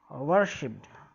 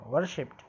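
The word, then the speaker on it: worshipped: वर्शिप्ड। मैंने कहा रा आपको सुनाई नहीं दे रहा है, रा पे जोर नहीं देना ज़्यादा। वर्शिप्ड, ये ध्यान रखो, वर्शिप्ड। और डा की जगह टा, वर्शिप्ड।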